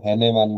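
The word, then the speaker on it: Hahnemann: এটা একটু মুখস্ত করে যাবেন ঠিক আছে হ্যানিম্যান বানানটা কিন্তু একটু ক্রিটিক্যাল আছে বাংলাতে আমরা হ্যানিম্যান বলি কেউ হানিম্যান বলে কেউ হানিম্যান হানিম্যান বলে ঠিক আছে এটা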